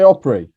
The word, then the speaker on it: Opry: neil i think you'll find it's um it's pronounced opera no what do i say opry yeah it's not prey isn't it i'm just